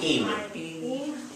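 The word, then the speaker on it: עם: We have the letter I. Then we have a mem sofit, which makes im.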